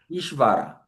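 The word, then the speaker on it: ईश्वर: 이 이, 이 이것도 우리 안 배운 자음인데 이 바 위에만 쓸 때 이렇게 자음과 자음이 합쳐져서 아까 시 발음이 있었잖아요. 그거 해서 슈바가 합쳐진 겁니다. 그래서 읽어볼까요? 이슈아, 이슈바 이슈바라.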